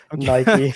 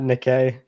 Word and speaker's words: Nikke: Nike. I just said Nike. Why? Not Nikkei. I mean, it's spelled.